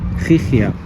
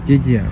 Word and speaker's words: Gigia: It was called Gigia or Gigia if you do not pronounce Spanish.